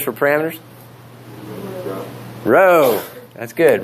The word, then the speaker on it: rho: Rho. That's good. Rho.